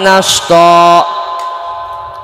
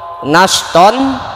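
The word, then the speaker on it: نشطا: Wan nasyitati nashta. Nashton dibacanya nashta.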